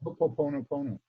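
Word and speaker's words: Hoʻoponopono: How do you pronounce it? Ho'oponopono.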